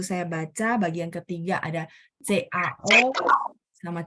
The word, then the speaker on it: cao: Jadi CAO, cao, cao karena dia nggak ada H, lidah saya datar.